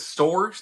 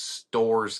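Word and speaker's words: Storrs: And then beat number 3 UConn in what I believe they pronounce it as Stores, Connecticut. Yeah, that is where UConn is. It's Stores, Connecticut.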